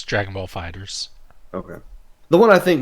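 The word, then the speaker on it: FighterZ: Dragon Ball Fighters or Fighter Z, still don't know how you pronounce that game, is normally $60, and it's $18 on the eShop right now. It's Dragon Ball Fighters.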